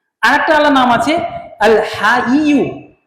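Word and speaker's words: الحي: তা আমাদেরকে প্রথম সঠিক উচ্চারণ শিখতে হবে। যেমন একটা নাম হচ্ছে আল হাইয়ু, আল হাইয়ু।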